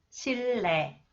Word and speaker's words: 실내: Okay, the second rule, when the final consonants 리을, 리을 히읗, 리을 티읕 are followed by 니은. Okay, 니은 is pronounced 리을. 실내, 실내, 7년, 7년, 닳는다, 닳는다, 뚫는다, 뚫는다, 핥는다, 핥는다.